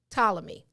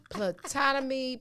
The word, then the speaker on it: Ptolemy: me say it right ptolemy i had to look because it's spelled p t o l e m y so the first four times to put a silent p in front man i was over